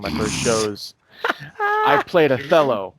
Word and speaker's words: Othello: first shows i played othello right so in the show playing with the show othello yeah it's what's otello actually but it's spelled othello yeah so in the